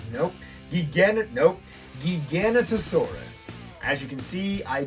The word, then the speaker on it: Giganotosaurus: movie but i i always forget how to pronounce it gigantasaurus nope nope giganotosaurus as you can see i don't have this